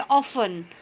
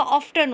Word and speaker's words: often: Second में देखिए ऑफन। ऑफन में टी की आवाज़ नहीं आती। अगर टी की आवाज़ होगी तो कैसे होगा? ऑफ्टन होता, लेकिन ऑफ्टन तो रॉन्ग वर्ड हो गया।